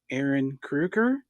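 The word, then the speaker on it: Ehren Kruger: Well, I was watching another interview, and the writer of this movie, I believe it's pronounced Aaron Kruger.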